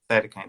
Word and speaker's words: cytokine: How do you No, pronounce that, Chris? cytokine storm.